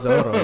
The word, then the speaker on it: Zoro: And in Japanese, there are no L's. That's right. They don't pronounce L's as in like L, because it's just not in their kanji, katakana, hiragana. Right? It's R. So Zolo actually really just like in Japanese is Zoro. Like it's pronounced like Zoro, right?